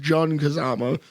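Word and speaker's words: Jin Kazama: Mishima and what I found out apparently is pronounced JN Kazama um didn't know that um you know that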